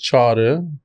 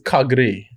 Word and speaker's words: Çağrı: No, right now, everybody, when I tell them my real name and the way it's kind of like written in English letters, it's pronounced as Kagri.